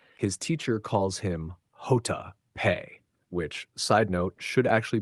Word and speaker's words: pe: Because in Spanish, the letter J is pronounced Jota, and the letter P is pronounced pe.